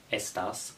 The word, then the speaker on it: estás: Take the Spanish word estás, for example. The accent is above the A, which means you exaggerate the word, like, over the A.